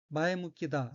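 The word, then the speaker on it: 前向き: 넷째 줄 맨 오른쪽에 어휘는 한자가 앞전자와 향할 향자가 들어있고 일본어로는 마에묵기다 라고 읽으며 마에묵기는 명사 또는 해용동사로서 앞쪽을 향함, 사고방식이 발전적, 건설적, 적극적, 긍정적임 이란 뜻이고 여기서 마에묵기다는 긍정적이다 란 의미입니다.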